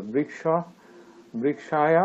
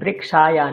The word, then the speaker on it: বৃক্ষায়: বৃক্ষায়া না, ঠিক বৃক্ষাভ্যাম। করে একটু ঠিক করে উচ্চারণ করতে হবে। বৃক্ষায়া না, বৃক্ষায়। আচ্ছা, বৃক্ষায়।